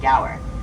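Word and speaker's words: gaur: We'll be on the lookout for some very large cow-like animals known as the gower. And that's spelled G A U R in case you were curious.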